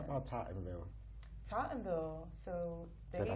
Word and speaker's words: Tottenville: Tottenville.